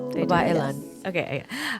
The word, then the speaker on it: Babailan: So let's talk about Babailan. Did I say it right? Babailan.